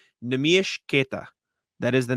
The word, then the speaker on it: Neemias Queta: Speculation maybe Wenyen got waived because Neemias Queta played well, by the way. Got pronunciation from him.